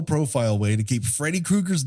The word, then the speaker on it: Krueger: It's not Krueger, it's Krueger. Maybe Is that a was more supposed Germanic pronunciation of it.